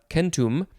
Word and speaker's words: centum: this to me uh it is a latin word they would have said kentum which means hundred it is from the